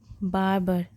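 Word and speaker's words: barber: हो गया नाई और यहां पे आर साइलेंट होता है और यह जो लास्ट में आ रहा है इसे हल्का से प्रोनाउंस करते हैं ऐसे ही इसे पढ़ेंगे बार्बर बार्बर द बार्बर ऑफ द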